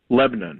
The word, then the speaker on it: Lebanon: Lebanon. That's the way they say it.